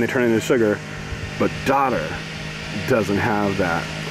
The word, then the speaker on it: dodder: It is daughter. Daughter. It's spelled D-O-D-D-E-R.